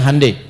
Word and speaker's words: Hyundai: bikin Hyundai ya ya Hyundai saya tahu bahasanya dibacanya Handai ya Apa saja Jepang masuk